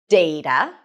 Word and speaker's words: data: You can either pronounce it as data with the A as in day, data, and I am